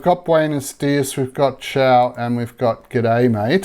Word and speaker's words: ciao: is it c-i-a-o c-a-o no it's chow that's how it said so it's more like c-h-o-w ciao chowing down eating some